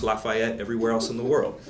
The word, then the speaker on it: Lafayette: say this correctly but down there they say Lafayette I know it's pronounced Lafayette everywhere else in the world this is Lafayette